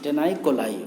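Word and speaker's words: Taeniae coli: इसी पट्टी को यहाँ पर कहा गया है TAENIAE, टेनाई कोलाई, ओके। ये एक तरह का प्रोनाउंसिएशन अलग अलग हो सकता है, लेकिन इसे हम लोग आमतौर पर बोलते हैं टेनिकोलाई।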